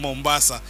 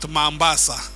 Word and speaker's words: Mombasa: a neighbor had a daughter who worked in Mombasa but she actually didn't know how to pronounce it as Mombasa she called it mambasa so she used to tell us a lot